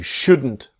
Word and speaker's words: should: Should you should you buy it now or should I etc. The important thing is the L is silent.